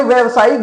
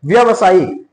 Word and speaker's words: व्यावसायिक: व्यवसायिक ये सही नहीं है। आ इसका सही वर्तनी क्या है? आपको व्यावसायिक व्यावसायिक ठीक है? देखिए यहां पर एक मात्रा की कमी है।